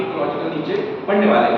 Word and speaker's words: niche: आगे चल के इकोलॉजिकल नीचे पढ़ने वाले हैं। तो एक्चुअली दिस इज नीच, मतलब जब बोला प्रोनाउंसिएशन किया जाता है तो इट्स अ नीच।